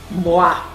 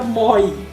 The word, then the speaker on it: moi: Se você juntar a letra M, O e I, se pronuncia moi. Não se pronuncia moi.